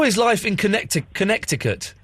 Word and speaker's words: Connecticut: How is life in Connecticut? It's good. Why don't you pronounce the second C in Connecticut?